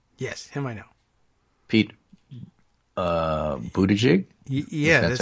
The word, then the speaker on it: Buttigieg: Pete Buttigieg? Yeah. That's how we pronounce it. I think I heard someone say it was like boot edge.